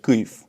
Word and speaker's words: Kyiv: And Kiev, when you want to say it like the Ukrainians, you gotta say Kyiv. But in Estonia, we sometimes still say Kiev, so I apologize for that.